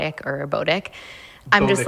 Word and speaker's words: Botic: Botic is spelled B-O-T-I-C.